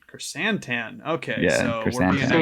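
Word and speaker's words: Krrsantan: It's Black Chrysantan. Chrysantan.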